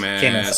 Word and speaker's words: Camus: Is that how you pronounce it? It's Camus.